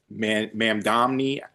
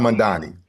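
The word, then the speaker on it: Mamdani: Uh, even the mayor elect of New York, uh, Zoran Mammi, I think I'm saying it right. Zoran Madani.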